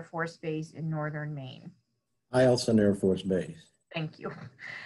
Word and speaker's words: Eielson: Eielson Air Force Base.